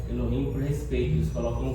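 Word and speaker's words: אלוהים: Uma outra forma, Elohim. Elohim. Elohim. Deus não é Eloim, é eloim.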